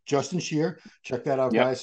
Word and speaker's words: Shier: Shier. I like how you have the pronunciation in the bio, so no one goes Yeah. here or Well, yeah, Shier.